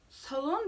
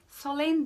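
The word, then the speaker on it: Sloane: Solon diye okunuyormuş. Solane diye okuyordum ben aslında.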